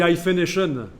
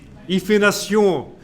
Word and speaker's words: hyphenation: anglais, ça se dit hyphenation, quand même. Ah, on m'avait dit que c'était des bons étudiants, mais là, franchement... Oui, là... Hyphenation avec un H. Hyphénation, prononcé à la Emmanuel Macron.